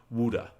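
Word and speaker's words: Wude: he's a new path to take to achieve wuda w-u-d-e i made sure i said it right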